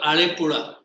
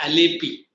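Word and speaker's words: Alappuzha: Then you go to Kerala, there's a place called Alepuzha. In Malayalam they pronounce like that, then tongue twist ho jata hai. I say Alepi, Alepi in English.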